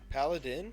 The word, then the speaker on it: paladin: both but yeah yeah yeah sure pal pal Paladin Paladin that's it okay I thought I was saying it wrong no that's Paladin Paladin a holy Warrior bound to a sacred